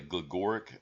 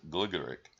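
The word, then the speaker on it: Gligorić: a young man Sedar some people say goric I think is the English pronunciation I think the correct pronunciation of his name is gligoric but but he was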